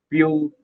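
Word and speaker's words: Pugh: It is pronounced as Pew.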